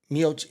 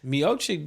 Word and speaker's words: Miocic: Miocic. That's Miocic? who yeah, he did. MIOCIC. Did he take it from him? No. Or is this somebody had an intro because he ended up stopping? No. Miocic didn't have it.